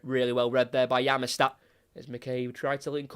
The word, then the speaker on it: Yamashita: It was spelled as Yamashita, but I did my research on the pronunciation and I got a Japanese pronunciation and they said it's Yamashita.